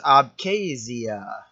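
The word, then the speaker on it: Abkhazia: This is abasia and this is South Oisha. So that's how you pronounce those.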